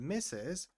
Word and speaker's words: Mrs.: So miss is for you do know miss and mess for when you don't know and misses for when they are married.